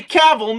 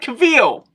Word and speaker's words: Cavill: pronouncing better to you this Henry Cavill not Camille Henry Cavill you're messing it up film sets up